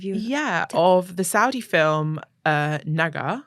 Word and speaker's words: Naga: Yeah, of the Saudi film Naga. Naga. Which, yeah, I think that's also the pronunciation because it's spelled with a cough.